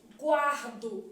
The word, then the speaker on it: guardo: que tipo gente decrescente guardo eu tenho que observar que a letra u é pronunciada então ó guardo semivogal